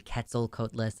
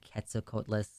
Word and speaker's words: Quetzalcoatlus: Quetzalcoatlus, which I pronounced wrong in the video. I kept leaving out the L. It's supposed to be Quetzalcoatlus, and I kept saying Quetzalcoatlus.